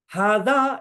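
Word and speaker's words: هذا: Hada is actually pronounced.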